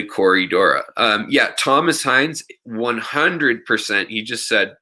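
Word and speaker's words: Corydoras: or with plurals like a lot of times they'll say corey dorres when it's just really corey dora um yeah thomas heinz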